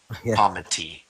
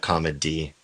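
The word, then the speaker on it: comity: like just to pronounce the T better then comma T. Yeah. Not comma D.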